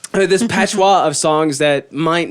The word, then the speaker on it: patois: have like this patchwork of songs that It's pronounced patois. this patois of songs that might not communicate the same emotion that you get whenever you're writing or recording that song.